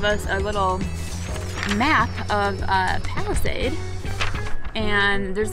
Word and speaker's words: Palisade: I think I might have said it differently this morning, but it's Palisade, it's how you pronounce it.